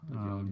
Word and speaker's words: Jan: It's Jan. Jan. J is silent.